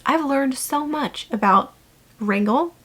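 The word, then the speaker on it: Wrangell: Um so, making these videos about the different cruise ports, I've learned so much about Wrangle. It's pronounced wrangle, not wrangel.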